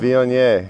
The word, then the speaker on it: Viognier: How you pronounce it again? Viognier.